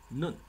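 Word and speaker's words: נ: 好，这是 noon，发的当然就是鼻音的好，看看什么例子。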